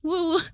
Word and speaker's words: UwU: I'm like, it's spelled UWU, woo.